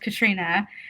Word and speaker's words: Katerina: name okay so um i grew up being called katrina uh but it's spelled like katarina i think because the